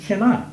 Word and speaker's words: Kennon: Kennon, I said, well, let me just, while we're talking, actually my name is pronounced Kennon.